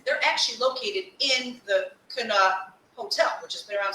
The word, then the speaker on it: Connaught: Connaught.